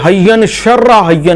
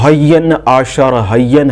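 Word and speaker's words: אהיה אשר אהיה: ہے، حین شرہ حین، تو حین شرہ حین جو ہے یہ اس کا درست تلفظ نہیں ہے۔ اس کا جو درست تلفظ ہے وہ حین عاشر حین ہے۔ یہ عبرانی زبان کا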